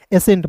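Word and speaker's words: ascent: रूप में करेंगे और ए सी है दोस्तों तो यहां पे सी साइलेंट कीजिएगा। एस का स लिखिएगा। इ का उच्चारण ए के रूप में एन है तो बिंदी टी है तो ट एसेंट।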